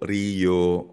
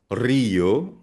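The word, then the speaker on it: río: So for example, ang letter R, kapag ang simula ng salita ay letter R, ang basa dito ay hindi roho rio, rapido kundi rojo rio, rapido.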